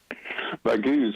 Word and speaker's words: Baghouz: So this is in the smaller towns like Baghouz. Is that how you say it? Baghouz, well, in fact, our latest monthly assessment is just for March.